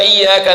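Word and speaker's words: إياك: Iyyaka na'budu wa iyyaka nasta'in. Pakai tasydid. Iyyaka na'budu wa iyyaka nasta'in. Kalau tidak pakai tasydid, iyyaka artinya matahari. Iyyaka na'budu, kepada matahari kami menyembah.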